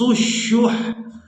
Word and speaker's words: الشح: شح، انفس الشح، وَأُحْضِرَتِ الْأَنفُسُ الشُّحَّ وَإِن تُحْسِنُوا وَتَتَّقُوا فَإِنَّ اللَّهَ كَانَ بِمَا تَعْمَلُونَ خَبِيرًا.